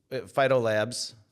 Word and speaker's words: PhytoLab: PhytoLabs. PhytoLab. PhytoLab. PhytoLab. Just for, I'll take either pronunciation, but when you're looking it up online, you're going to want to drop the S.